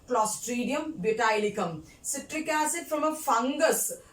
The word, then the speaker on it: Clostridium butylicum: Pronounce with me. Clostridium butylicum.